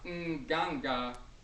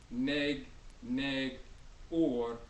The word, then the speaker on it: Nganga: So you have Nganga or, but it's spelled without the vowels very often. N-G, N-G. Some people have seen that and thought it said neg, neg, or neg, negor, or negur, or nigger. That's pure foolishness.